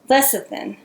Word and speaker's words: lecithin: throw the rest of the stuff in sunflower lecithin I had to google translate this did not know how you pronounce it l ec i th i in